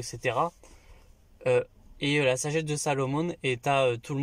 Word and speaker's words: Salomon: durant tout le film ne sait même pas prononcer Salomon qui le prononce Salamon euh sarouar tu es